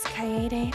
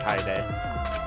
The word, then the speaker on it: Kaede: My name is Kaede. Alright, so that's how you pronounce it. It's not Kaede.